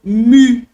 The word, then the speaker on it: mu: maiúsculo e o minúsculo como se escreve grego mu não é Mi tá gente é um